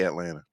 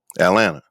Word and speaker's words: Atlanta: how I say it you leave off the second T Atlanta you you being a